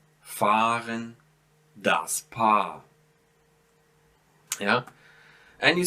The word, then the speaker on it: fahren: See, I don't pronounce ha, I just prolong the a here. So zahlen, fahren, das Paar.